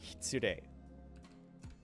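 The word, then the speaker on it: 失礼: This word here, it's pronounced more like hitsurei. Like there's no S sound just because it just kind of disappears.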